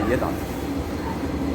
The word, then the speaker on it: Jedan: Or else when you see J-E-D-A-N, I can just look at that and I can understand how to say it. I say Yedan.